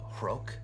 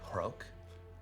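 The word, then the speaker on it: Rhok: My name is Hrok. That's spelled R-H-O-K. Hrok.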